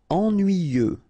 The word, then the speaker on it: ennuyeux: nuit then y ennuyer ennuyeux ok final x not pronounce and the same concept